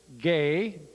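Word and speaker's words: γῆ: into all the Earth gay g e which is pronounced gay in Greek and their words rata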